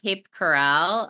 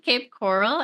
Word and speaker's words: Cape Coral: Um, and I just played in Cape Corral, uh, or Cape Coral. I say it wrong. Cape Coral, and they had like a a goth Valentine's night there.